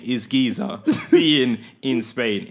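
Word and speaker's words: Güiza: goes, oh yeah, so the guy's name is spelled Guiza, but like the Z in like Spanish is usually like a TH, right? Yeah. So he goes, oh yeah, that Danny Guiza looks a good player,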